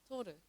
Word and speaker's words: Toru: But in Korean, it's pronounced like Toru.